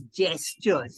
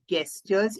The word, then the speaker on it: gestures: is and it's g-e-s-t-u-r-e is spelled with G but pronounced with J so it's gestures it's not gestures it is gestures just gestures all right